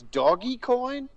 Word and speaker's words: Dogecoin: buy some doggy coin oh is that how you pronounce it it's doggy coin yeah i keep hearing people say dogecoin but you're missing the joke guys the coin has a dog on it the right okay so